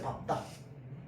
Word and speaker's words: 밟다: 있습니다 첫 번째는 뭐냐 밥입니다 얘는요 그냥 애초에 발음이 발이 아닙니다 밝다가 아니야 답답다 알겠죠 자 내가어떤 물건을 밥다 지여 밟다 알겠죠 지여 받고 가시옵소서 알겠죠 지